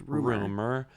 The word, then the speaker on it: RMR: Well, I guess it's relevant that his name is Rumor. Mm-hmm. His name is RMR, but it's pronounced Rumor.